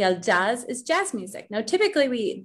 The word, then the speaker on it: jazz: Now, typically, the J we pronounce as a H, but because this is a word that comes from English, we pronounce it as if it's in English.